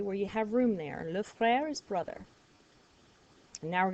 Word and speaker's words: le frère: one on the bottom, le frère, like the song, Frère Jacques, Frère Jacques. This means brother. So write brother on the left side of it, okay, where you have room there. Le frère is brother.